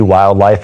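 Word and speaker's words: WyldLife: targeting middle school kids, which is spelled WYLD. Wildlife is our middle school program.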